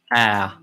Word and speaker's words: Ä: And this one is pronounced Ä.